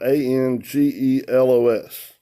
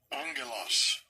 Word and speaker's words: angelos: It's spelled Angelos. It's this word. Strong's G32. Angelos.